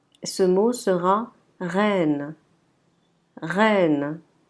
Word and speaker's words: reine: Ce mot sera reine. Reine. Si vous pouvez entendre, c'est un E qui est ouvert.